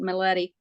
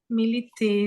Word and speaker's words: Militi: And I think here in how we pronounce it, Miletti. Yeah, but Mileti. Militi is the right way. Yeah, we're trying to convert y'all back to the original pronunciation.